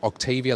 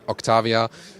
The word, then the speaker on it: Octavia: just said Octavia yeah Brian likes to say Octavia like the UK ish pronunciation I wanna say German is or check Octavia so depends on what you prefer I stick with Octavia